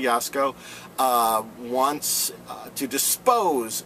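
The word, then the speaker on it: Jaczko: chair uh gregory yasko i think i said jasco a few weeks back i now believe that's not how you pronounce it i apologize gregory yasko uh wants uh to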